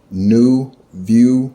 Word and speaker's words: Neuvue: But I would like to thank New View Tarot, and her channel name is spelled Neuvue Tarot.